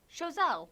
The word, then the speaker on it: Choiseul: naming everything after the French left, they just kind of repronounced everything. So it's like Soufrière, Soufrière. Choiseul, Chazelle. Carénage.